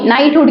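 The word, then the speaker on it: knighthood: है टाइटल या उपाधि नाइटहुड की उपाधि बोलते हैं ठीक है इंग्लिश में के साइलेंट होता है के एन आई जी एच टी एच ओ ओ डी नाइटहुड की उपाधि क्यों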